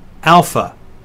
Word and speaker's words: alpha: the first letter is alpha it sounds like the a in father beta is next it